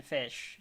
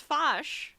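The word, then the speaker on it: Fache: manager, the captain, Captain Fish, Jean. What did I say his name is? I'm sorry, what? Fish? You said Captain Fish. It's Fosh.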